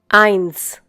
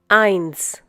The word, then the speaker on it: eins: But, whenever the letter S occurs at the end of a German word or after the last vowel within that word, it is pronounced as an English S.